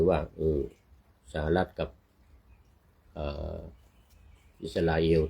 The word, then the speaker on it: อิสราเอล: เคน ไว เมื่อ กี้ ต้อง ออก เสียง เป็น อิสราเอล นะ อิสราเอน จะ ต้อง จ่าย เส้น